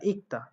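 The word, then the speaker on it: 읽다: বাট আপনাদেরকে এটাও শিখিয়েছিলাম আমি যে আসলে এই দ্বিগুত আকারটা আসলে এই ইক দা বানান উচ্চারণটা সঠিক না। এটা সঠিক উচ্চারণ কি ইক, তো আকারে তা ইকটা।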